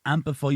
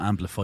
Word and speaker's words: Ampifi: once again from the amplify studios here in the heart of car your pronunciation is getting fantastic should I have this sure Patty bar me last yeah Jesus it's not amplify it's amplify oh yeah whoever P